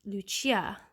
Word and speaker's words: Lucia: thing happened to saint lucia did i say her name is saint lucy it's actually lucia because she was italian well cecilia so anyway